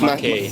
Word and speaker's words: Matej: Yes, it's Matej, hard to pronounce. It's Mackey. Matthew.